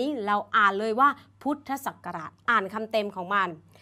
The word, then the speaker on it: พุทธศักราช: เรา อ่าน นะ คะ พวก อักษร ย่อ จะ ต้อง อ่าน คำ เต็ม ๆ ของ คำ นั้น ๆ เช่น อ่าน ว่า พุทธศักราช ถ้า เรา เจอ คำ นี้ เรา อ่าน เลย ว่า พุทธศักราช อ่าน คำ เต็ม ของ